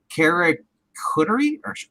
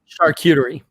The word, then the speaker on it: charcuterie: ordered except for the carrot cutter again charcuterie I guess charcuterie doesn't spell it CH AR Cu T charcuterie charcuterie yeah charcuterie charcuterie there you go it's it's basically if